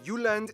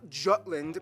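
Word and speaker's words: Jylland: denmark is made of the uland not jutland peninsula that connects to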